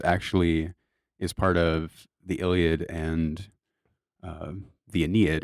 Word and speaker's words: Iliad: That's how you say it, the Iliad.